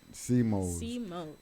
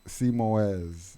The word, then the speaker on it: C-Mos: C-Mos. See, I would have said C-Moez, but that's.